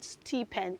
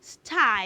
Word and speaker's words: stipend: week or holiday season is not steepen children the word s p n d isn't steepen it is sty everybody say sty sty